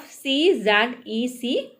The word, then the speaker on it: Czech: Yes, Czech is the pronunciation of Czech.